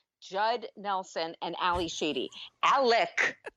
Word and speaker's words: Alec: Alec, not Alex. Alec. By the way, could we start a drinking game and we could drink every time Ali Sheedy's character says Alec? It's very, very with a hard C.